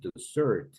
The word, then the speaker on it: dessert: desert that's a place it was a dessert that's food do you know what